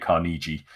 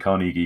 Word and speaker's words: Carnegie: The pronunciation of Carnegie, everyone's saying it Carnegie. It's definitely Carnegie because it's someone's name.